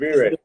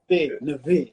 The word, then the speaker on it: Navire: Navire, because a lot of people Navire. say my name Navire. It's Navire. Navire.